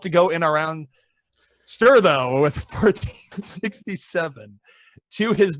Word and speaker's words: Ster: And it's Ster once more with 47%. Dude, it's pronounced Ster!